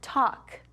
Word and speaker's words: talk: And how about talk? Do you see it? Yes, right there. That L, we don't say that L. Talk.